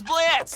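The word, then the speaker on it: Blitzø: The name's Blitz. The O is silent.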